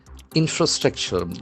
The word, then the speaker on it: infrastructure: So this is a very important word with four syllables. Infrastructure. Infrastructure. Infrastructure. Infrastructure. An accent for infra. That fra has a sound.